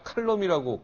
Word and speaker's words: 칼럼: 네, 저한테 컬럼이 아니라 칼럼이라고 강력히 주장하시는 분, 윤창중 칼럼세상 대표 함께 나와주셨습니다.